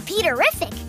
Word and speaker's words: Peterrific: this is my little brother, Peter, also known as Peterrific, which rhymes with terrific.